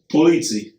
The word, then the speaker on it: Polizzi: No, did I say it like Italian? You said like you just came off the boat. Can you? You say it. Say it for me real quick. Polizzi.